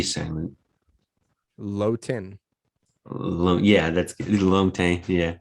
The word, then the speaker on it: Longtin: i'm it's french right so it's hard to pronounce the g segment low tin yeah that's yeah it's hard to pronounce for sure yeah i called you long tin what an ass no it's all good